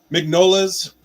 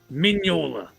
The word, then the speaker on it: Mignola: All right, this is Mignola's viral pencil sketches, Radio Spaceman, steampunk space adventure. It sounds pretty cool. It's pronounced Mignola. Mignola. The G is silent. I'm in. Mignola?